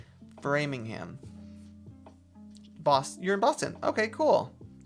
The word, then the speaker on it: Framingham: And I always try and pronounce it a different way than I should be pronouncing it, but Framingham.